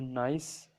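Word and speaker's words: gneiss: नाइस क्यों कहते हैं इसको, क्योंकि इसमें जी साइलेंट होता है, ठीक है।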